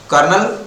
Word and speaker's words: कर्नल: जेसीओ कर्नल major general कर्नल बोलते हैं कर्नल लिखते कोलोनल ठीक है स्पेलिंग ध्यान दीजिएगा इन में प्लाटून प्लाटून